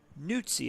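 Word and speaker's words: Neutz: Jamie Nes was hit by a pitch his last on NI apparently is how you pronounce it.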